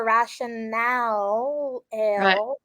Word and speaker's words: RationAle: people mispronounce it and I've noticed that their logo which was probably strategic has it broken so I'm I'm assuming it's ration ale ration Aleen and I